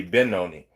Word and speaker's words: Benoni: You can see it pronounced many different ways. uh written out many different ways. Yeah. So it would be B Ben Benoni. Sorry. It would be Benoni, which would be B N just like Benjamin.